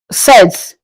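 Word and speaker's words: sept: Seven is pronounced in French as sets. As I said, you don't pronounce the P. The P is the letter P is silenced. Set.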